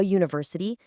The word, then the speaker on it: university: That's exactly why we say a university, because it starts with that U consonant sound.